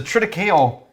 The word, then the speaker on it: triticale: but this is a triticale treaty don't say cole don't it's the correct pronunciation of that grain pretty cola i mean